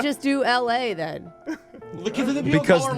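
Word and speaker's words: Elae: The same way you'd say the city of Los Angeles with a hard L.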